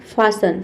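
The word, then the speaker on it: fasten: अगला वर्ड है हमारा फासन। फासन का मतलब होता है बांधना। ठीक है? इसमें भी देखिए टी इ एन आ रहा है।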